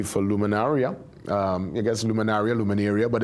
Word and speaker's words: Luminaria: Luminaria um I guess luminaria luminaria but it's really luminaria based on correct pronunciation it's Latin you said uh Dr.